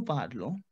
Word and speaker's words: parlons: So we have nous parlons. I cannot say parlons. Never. Jamais. No. Never. Nous parlons. Why? Because ON sound is on. Nous parlons.